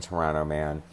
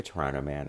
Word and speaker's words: Pteranoman: this crap now, especially Petrano-Man. It's so good. And it sounds like Toronto Man if you're having trouble pronouncing it, but it's obviously pterodactyl, play on words.